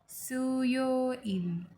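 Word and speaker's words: 수요일: Okay, तो Monday को कहेंगे वोरियो इल, प्रोनाउंस लाइक वोरियो इल। ट्यूसडे वायो इल, वायो इल। वेनसडे सुयो इल, सुयो इल।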